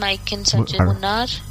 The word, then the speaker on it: Munnar: One name I can suggest, Munnar. It's spelled as M-U-N-N-A-R.